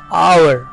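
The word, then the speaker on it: hour: हुआ है लेकिन उसमें जो इस है वह साइलेंट होता है इसलिए इसकी बिल्कुल भी आवाज नहीं आएगी और उसे हम पढेंगे इज आवर आवर यह टाइम बताने के लिए जो हम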